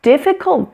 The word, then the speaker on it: difficult: The most difficult thing is the decision to act. The rest is merely tenacity. Difficult Difficult has a short I in the middle. Difficult, the weak syllable is the middle one.